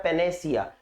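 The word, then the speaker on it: panacea: इसका प्रोनाउंसिएशन होता है पेनेसिया।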